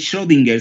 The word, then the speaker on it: Schrödinger: Acuérdense que Schrödinger, que no es Schrödinger, sino Schrödinger.